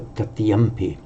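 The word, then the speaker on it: tatiyaṃ: So it would be pronounced dutiyam, tatiyam. It has come to be pronounced by the Thais and the Sinhalese, and I think by the Burmese.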